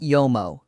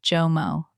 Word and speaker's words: JOMO: Mistake number four, the pronunciation of JOMO, not YOMO, not HOMO. Hard J, JOMO, JOMO.